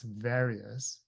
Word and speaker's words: various: The second word, various, again, is a. It's not a. It's various. The third word is precarious.